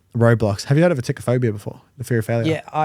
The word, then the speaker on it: atychiphobia: How do you pronounce the word? Atychiphobia.